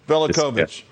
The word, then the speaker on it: Velicovich: I don't want to mispronounce Velicovich. it. Velicovich.